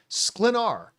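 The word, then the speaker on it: Sklenar: Brandon Slenar.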